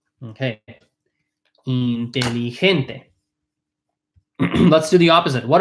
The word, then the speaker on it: inteligente: The G becomes an H. It's pronounced like an H. Inteligente. Right? Okay. Inteligente.